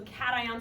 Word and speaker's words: cation: The name for a positive ion, it's kind of said weird from how it looks, is it said cation is how you say it. So it's not cation as it probably looks. English is just weird. But you actually say it as a cation.